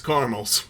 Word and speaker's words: caramels: heard it here first if you pronounce the a in the middle of caramels you are a pedophile and kids can sniff that out okay pedophiles pump the brakes it's caramels all right getting us back